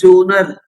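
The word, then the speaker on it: genre: editor and his jonah this word has to be read like that not general or something g e n r e so that is pronunciation is jonah jonah is his style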